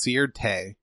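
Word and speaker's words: Sirte: longtime ruler of Libya's hometown of cert or I heard it pronounced sere teh from the internationally recognized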